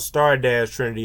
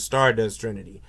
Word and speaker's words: Star Dash Trinity: It's really called Star Dash Trinity. I kept saying that it was Stardust Trinity, but it's Stard Dash Trinity.